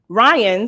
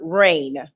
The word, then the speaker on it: Ryan: Ryan, spelled R-Y-A-N, was very difficult for my mother to pronounce, and she kept pronouncing her Rain.